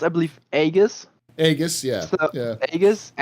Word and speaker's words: Aegis: I mean, even I, as a non-native native speaker, know it's Aegis. Well, it's not even English. It's Greek. Yeah, usually it would be pronounced, I believe, Aegis.